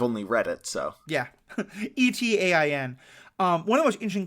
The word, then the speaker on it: Etain: And that character, that's Attain, I believe is how you pronounce her name. Is that correct? That's how I pronounce it. I've only read it, so. Yeah. Etain.